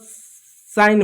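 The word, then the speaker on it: sign: तो ऐसे समय में जी साइलेंट होगा। जैसे इसको क्या पढ़ेंगे? इसको केवल साइन पढ़ेंगे। साइन इसको साइन पढ़ेंगे। साइन साइन पढ़ेंगे। डिज़ाइन पढ़ेंगे। फॉरेन पढ़ेंगे। जी साइलेंट रहा।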